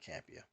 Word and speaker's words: Campea: is obviously run by does the name say John campia John campia okay stop mispronouncing name his